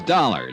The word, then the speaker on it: Dollar: was Buzz I didn't it's dollar Johnny dollar dollar huh yeah rhymes with collar I always like to